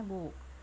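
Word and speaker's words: 五: Kemudian secara Ungyomi dibacanya go ya, go.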